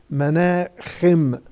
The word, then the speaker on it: Menachem: The letter ha in Arabic is pronounced in Hebrew as kha. We say Menachem Begin. His name in Hebrew is Menachem.